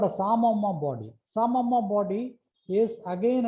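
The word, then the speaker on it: psammoma: So this is called a Samoma body. P is silent.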